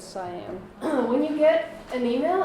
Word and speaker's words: cyan: Cyan. It's not cyan, it's not anything. Well, you really won't need to use like English-speaking printers, but still good to know that it's cyan.